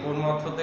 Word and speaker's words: প্রমথ: অনেকেই নবম শ্রেণীতে এসে, আমিও ভুল করেছিলাম, শুরুতে পড়েছিলাম প্রথম চৌধুরী, প্রথম চৌধুরী। এই কাজটা অনেকেই করে যে পুরো বানানটা দেখে না, ওই প্রমথতে হয়ে যায় প্রথম চৌধুরী। তো এটা হবে প্রমথ চৌধুরী।